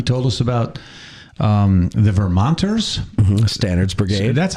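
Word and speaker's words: Stannard: Standards Brigade. So that's how we pronounce it. He pronounced it a little differently. Stenard. Yeah. That's like Stunard.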